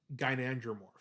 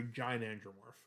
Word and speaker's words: gynandromorph: Um, this is a gynandromorph or a gynandromorph, depending how you want to pronounce it, which means that half of the body is male and the other half is female.